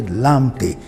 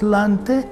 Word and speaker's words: Lante: We say Lamte. There's no Lamte in Ghana, it's Lante.